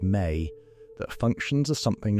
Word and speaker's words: me: The Sumerian tablets describe a concept called MI pronounced May that functions as something like the pulse of civilization itself.